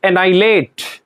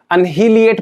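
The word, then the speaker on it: annihilate: जी हाँ, बिल्कुल, आप पढ़ के देखो, इसको क्या पढ़ रहे होंगे, इसमें ये एच है, इसको साइलेंट कर दो। बहुत सारे बच्चे इसको अनहिलिएट पढ़ने की कोशिश करते हैं, दिस इज नॉट एनहिलिएट।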